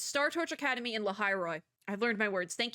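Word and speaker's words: Lahai-Roi: Because that's how I thought it was pronounced, but I like didn't. It's like when you pronounce something, but you're also like, that doesn't sound right. No, it's right.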